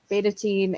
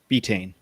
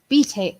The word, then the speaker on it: betaine: And then the other things that we have are betatine and, did I say it right? Betaine. Betaine. See?